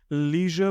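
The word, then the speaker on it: leisure: इसको आप अगर लीजर पढ़ते हैं या फिर लेजर पढ़ते हैं, दोनों ही करेक्ट है।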